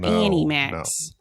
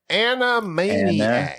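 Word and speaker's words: Animaniacs: do much for me are you saying Ana like Ana Max or Annie Max Animaniac like animated so how do you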